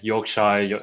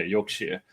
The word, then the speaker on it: Yorkshire: So they've been Oh, Yorkshire. Yeah. Sorry, Cla has pulled me up on the pronunciation of there's a lot of UK names that I Yeah, Yorkshshire. It's It is spelled in my defense Yorkshshire, but yeah, Yorkshire.